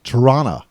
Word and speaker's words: Toronto: i i lived in toronto more accurately said torana t-a-r-a-a-n-n-n-a toronto turana well i'm on